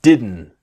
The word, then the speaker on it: didn't: you didn't want to buy it two you didn't you didn't want you didn't okay is that